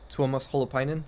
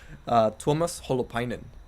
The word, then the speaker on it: Tuomas Holopainen: He's from Finland, so he has a bit of a mouthful Sounds of a like name. jalapenos. I thought, Yeah. I thought he was Mexican too. No, How do you say jalapeno in Mexican? jalapeno. And what's this guy's name? Tuomas Holopainen. It's very close. So yeah, I guess Yeah. it does sound like Fine.